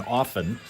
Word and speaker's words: often: Don't pronounce a T and often.